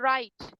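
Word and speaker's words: write: आई टी ठीक है लेकिन बोलते कैसे हैं इसमें व हमारा हो जाता है silent are आई टी आई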